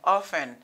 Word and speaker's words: often: Donc, dans le mot ça, l'idée n'est souvent pas prononcée. I say souvent, often, OK?